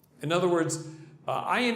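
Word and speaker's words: עין: In other words, ayin is difficult because it's guttural. It's right? It's hard for Americans to, as a matter of fact, a lot of Israelis just consider it to be a silent letter, but it's really a guttural.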